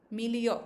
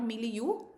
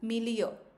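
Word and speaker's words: milieu: Mill meio. That's how we pronounce this word. Not meu. millia.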